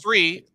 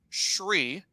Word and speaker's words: Sri: And it's Sri, not Shri, right? It's an SREE. Sri.